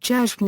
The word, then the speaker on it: Gershwine: His birth certificate bears the name Jacob Gershwin, which would have been pronounced Gershwin in the expat Russian neighborhood.